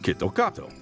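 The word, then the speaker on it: キットカット: to these people well KitKat in Japanese is pronounced ketokato which actually sounds very similar to the Japanese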